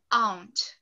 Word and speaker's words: aunt: A gente encontra mais diferença, eu acho, no sotaque britânico, porque o sotaque britânico pronuncia-se aunt.